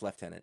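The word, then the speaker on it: lieutenant: a little while and explain to me why it's left tenant because I've I've been along alive a long time and I can't There's no F in there. There's no F at all. There's no T until the end.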